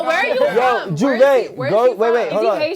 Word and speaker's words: Jouvert: It's pronounced Juve.